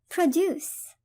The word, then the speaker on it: produce: produce. produce كفعل تعني ينتج ويصنع. produce. وإن كانت اسم فهي تلفظ produce وهي تعني منتجات عادة تكون منتجات زراعية.